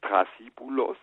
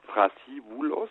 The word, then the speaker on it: Thrasybulos: Also Thrasybulos aus dem Griechischen, also er schreibt es Thrasybulos mit B. Im Griechischen bedeutet der Name aber letztendlich Thrasybulos, also mit TH oder mit dem englischen TH ausgesprochen. und mit einem W drin, einfach zusammengesetzt aus zwei